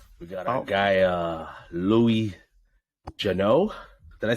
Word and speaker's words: Geneux: The correct pronunciation of my name is Geneux, kind of like J-U-H. It's phonetically J-U-H-N-E-W.